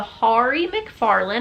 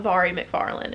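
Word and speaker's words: Mhairi McFarlane: ever discussed her in but it is avari mcfarlane and i learned that because i took the time to read something that had it broken down phonetically i don't remember where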